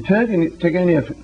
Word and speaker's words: Turgenev: In the Turgenev. He, second. The second one. accent on the second syllable.